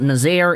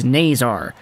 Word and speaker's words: Nazar: there and say it it's not nazaire it's not nazar it's naysar so who is frank